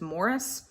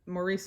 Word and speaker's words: Maurice: Maurice by now I am aware that the British pronunciation of this name is Morris and I just can't do that to me this is Maurice and we're just gonna have to be okay with my vulgar American pronunciation though to be fair I think isn't that Maurice is the French pronunciation I don't know anyway